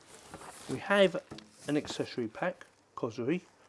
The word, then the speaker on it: COSORI: We have an accessory pack, COSORI, not COSORI, COSORI. I think that's how you pronounce it.